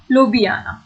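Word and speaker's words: Ljubljana: इसका स्पेलिंग अलग है लेकिन उसका प्रोनाउंसिएशन एक्चुअल में इट्स लोबियाना। ओके, ये स्लोवेनिया था और ये मेरा स्लोवाकिया था।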